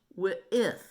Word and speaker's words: Wythe: "Thomas Jefferson wrote it, but all the members of the Continental Congress signed it, including George Wythe," she explained, dragging out Wythe's last name. "It rhymes with Smith."